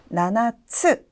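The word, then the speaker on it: 七つ: 아, 발음도 너무 귀엽네요. 나나, 나나라고 하는데요. 7개라고 할 때는 나나츠, 츠라는 글자까지 포함해서 기억해 주시고요.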